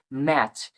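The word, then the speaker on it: match: সি এইচ এর বাংলার প্রতিরূপ হচ্ছে চক ওয়াচ উচ্চারণ হচ্ছে এরকমভাবে ম্যাচ এম এটি সি এইচ ম্যাচ এরভাবে ক্যাচ সি এটি সি এইচ ক্যাচ এটা খুব ইম্পর্টেন্ট একটা রুলস।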